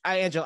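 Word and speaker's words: Anjelah: seen him yeah angela is it angel and angela i've heard her pronounce angela yeah angela johnson yeah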